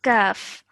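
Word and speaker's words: كاف: Okay, this is the letter kaf. Kaf. Yes, so this is a thin sounding letter, so we need to have a smiling face, and this is a kaf.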